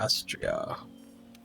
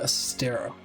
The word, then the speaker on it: Astera: Right, so I'm gonna go to Astria. Not training area. Astria Astera. That's how you pronounce it.